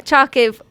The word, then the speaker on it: Charkiw: k i w but if you pronounce the W as a v it's fonetic so it's